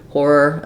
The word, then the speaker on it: horror: And then in the second syllable, letters OR say the sound because they are unstressed.